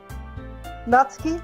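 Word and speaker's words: Natsuki: Nutski. that's deep. So it's Yeah. like what I was told is it's like you're saying the end of the word cats.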